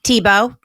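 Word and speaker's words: Thibaut: and we can order you um the paper TBO design and you spell that t h i b Au u t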